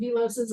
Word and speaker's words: VLOSs: I pronounce it VLOPs and VLOSs.